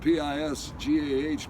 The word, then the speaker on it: Pisgah: It's spelled P-I-S-G-A-H, but it's pronounced Pisgah.